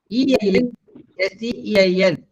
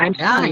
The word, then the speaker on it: Einstein: Einstein. Oh, Ah, Einstein. yes, it is Einstein. Einstein. Both Ein. Please don't forget that. But I have heard many saying Einstein. No, it is Einstein.